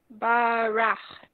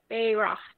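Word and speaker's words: בֵּרַךְ: Barach. Nice. Except, what's the first vowel under the bet? Beirach. There you go.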